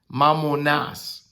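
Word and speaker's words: μαμωνᾶς: This word mammon, mammonas, mamoinas, phonetically it's mam like M-A-M, mo, M-O, nas, N-A-S, N-A-S, mammonas.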